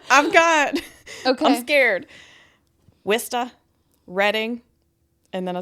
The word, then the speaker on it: Worcester: I'm going to try and pronounce these correct. Norfolk. Worcester.